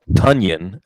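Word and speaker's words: Tonyan: didn't even think about the correct pronunciation for rob tanyan as in funyun hadn't really said anything because for two years we were saying tanyan and we were wrong anyway take it away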